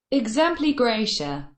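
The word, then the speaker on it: exempli gratia: দেখো এটা আমি তোমাদেরকে শোনাই দিই, এটা কি বলে উচ্চারণটা। Exempli Gracia.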